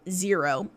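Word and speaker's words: Xero: it for several reasons it's called zero but it's spelled x e ro no we've tried several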